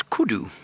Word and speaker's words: kudu: c do and often in the local languages out here in South Africa and many parts of of the world U is pronounced o so it's kudu and those are two